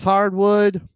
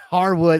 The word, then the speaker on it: Harwood: up chris jericho beating drax hardwood or harwood i don't know why i said hardwood oh my god uh